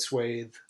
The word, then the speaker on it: swath: What's the American pronunciation? Swath. It is swath? Yeah. Interesting. Because I've always said swathe. Well, it also depends on what coast you're on. Is that British or just wrong?